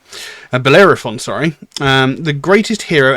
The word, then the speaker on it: Bellerophon: the legendary Phoenician founder of uh Boise who's pronounced that horrible he was apparently the first Greek hero and alongside Perseus and bellefaron and bellerophon sorry um the greatest hero and Slayer of